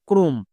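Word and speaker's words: chrome: যেমন দেখো ক্রোম, এখানে সিএইচ আছে, সিএইচ এর জন্য চো কিন্তু করব না।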